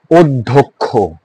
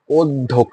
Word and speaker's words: অধ্যক্ষ: ধয়ের পরে দেখো জ ফলা আছে, রাইট? সেই কারণে স্বর অ হয়েছে কি ও, অধ্যক্ষ।